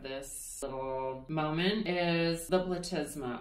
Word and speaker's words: platysma: little moment is the platysma. Or if you want to pronounce it like how I did at first, the platysima.